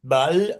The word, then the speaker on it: balle: Comment que vous vous euh prononcez le le mot balle ou B ? B bal avec un A ouvert balle.